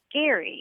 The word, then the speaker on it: Gerry: I recently learned that the person who it's named after pronounced his name Gary and I wonder why we